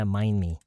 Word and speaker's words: mind: What kind of business if you don't mind me asking 할 때 mind의 D 묵음이에요. mind me가 아니라 mind me. If you don't mind me asking. 그냥 mind 에서 바로 me로 넘어간대.